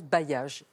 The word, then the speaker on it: bailliage: Voilà, c'est bailli, âge, bailliage, on prononce bailliage.